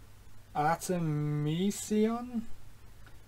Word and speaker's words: Artemisia: made all right so it's important we get artemisia is how you pronounce his name and there's mog nine mog